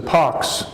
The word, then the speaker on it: pox: word literally means is the pox is the same thing as pops it's pronounced the same way so so smallpox the